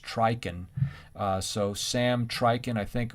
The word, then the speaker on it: Trychin: it's spelled like this but his name is pronounced trichen so sam trichen i think it was 2001 has you know reasons why people don't get hearing aids and it's really not data based but trichin is a psychologist like harvey and it's sort